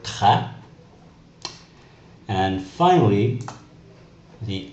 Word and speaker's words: très: The accent grave, also known as the low accent, changes the sound to an A sound. For example, the word très.